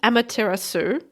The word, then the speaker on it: Amaterasu: This one's called Amaterasu. I'm going to pronounce that as if it rhymes with tiramisu because that sounds like a good approach.